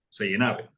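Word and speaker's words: Seynhaeve: Así se pronuncia. Seijenave.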